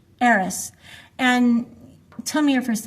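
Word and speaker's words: Eres: How do you pronounce that? Eris. Eris.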